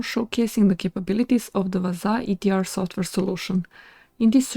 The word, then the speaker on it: Wazuh: detection and integrity monitoring I pronounced it vaza as heard on their YouTube channel so let's get started